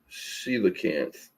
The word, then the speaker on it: coelacanth: Coelacanth, is that how you say it?